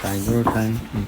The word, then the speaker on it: daguerreotype: The daguerreotype. I have no idea. Ask Noah. Daguerreotype.